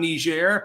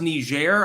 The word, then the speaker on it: Niger: It's pronounced Niger, I believe, in the Francophone sense, or Niger.